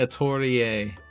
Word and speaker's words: Atelier: habit and it sounds it sounds wrong saying a tourie but it's that's the right pronunciation character oh right yeah